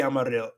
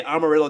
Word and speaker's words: amarillo: Don't ever say Amarillo. Don't ever say Amarillo. It's not Amarillo. Like Amarillo, Texas. Oh, the amount of times I hear that. Don't say Amarillo, Texas.